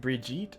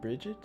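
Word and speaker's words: Brigit: need the goddess's name is it bridget or bridgette uh let me yes let me let me see here follower of b-r-i-g-i-t sure let's go with that bridge which one there's two pronunciations uh i'll go with bridget because it sounds more galaxy fair enough i am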